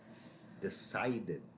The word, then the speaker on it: decided: Decided, decided. Here, this ends in a D, so just by reading it, you should know that this is the id sound. The ED is a separate syllable.